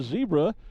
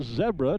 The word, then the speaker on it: zebra: one of our two zebra our zebra depending on the part of the world and since we have an international audience I'll pronounce it zebra balloons it's the peak